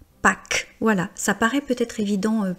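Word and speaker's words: Pâques: choisi aussi parce que vous voyez qu'il y a un S à la fin, dernière euh comment dire consonne et en fait on dit pas pack mais on dit pack.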